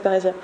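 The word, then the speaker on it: parrhesia: Une parésia, ça se prononce bien comme ça, ceux qui font du grec.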